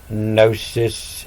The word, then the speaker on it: gnosis: And that's why the G is silent always in gnosis, knowing, and of in note.